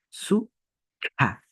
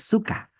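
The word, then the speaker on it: sukha: Esta KH es una consonante expirada o aspirada, que se pronuncia de adentro hacia afuera, como soplando, como si nosotros estaríamos expulsando o botando algo. Su, ja. Su, ja. No es suka, no es suka.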